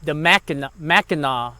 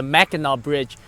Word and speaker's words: Mackinac: So I went past the Mackinac, I think that's how you say it, the Mackinac Bridge, which is over in Michigan, and that was a beautiful bridge.